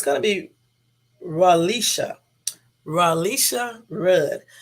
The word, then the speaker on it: Relisha: him it's gonna be ralisha ralisha Rudd and I'm saying her name correctly because other people pronounced her name Incorrect and then I guess